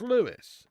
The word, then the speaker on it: Lewes: What, Lewes is pronounced Lewis?